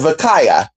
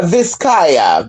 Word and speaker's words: Visaya: There's Vakaya. Is it Vakaya? Vakaya. Vakaya Philippines. Am I saying it right? It's Vika something. Oh, no visaya. There you go.